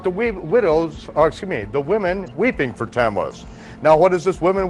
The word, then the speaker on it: Tammuz: Can anyone pronounce that for me? Tammuz.